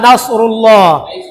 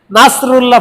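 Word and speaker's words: نصر الله: ইযা জাআ নাসরুল্লাহ, যখন আল্লাহর পক্ষ থেকে সাহায্য আসবে। ওখানে নাস সাদ উচ্চারণ না করি আমরা যদি নাসরুল্লাহ পড়ি, সিন উচ্চারণ করি, তখন এর অর্থ হবে শকুন।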